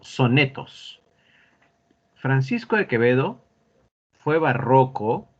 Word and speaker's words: barroco: Eso es barroco. Barroco significa complejo. Así que el barroco es un movimiento artístico, cultural que impactó en muchas artes. Y se pronuncia barroco, no barroco, ni barroco. No, no. Es grave.